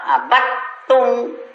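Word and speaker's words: عَبَدتُّمْ: Jadi kalau abattum itu dal sukun masuk ke ta. Jangan dibaca dal, abattum. Jadi suara ta yang ada.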